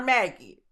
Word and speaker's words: MAGI: It almost sounds like MAGA, but we're going to call it MAGI. That's what we're going to call it. I don't know how other people pronounce it, right? We gonna call her Maggie.